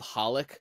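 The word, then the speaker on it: xxxHOLiC: also like there's also an anime called holik but it's spelled XXX holic but the X's are silent so it's just a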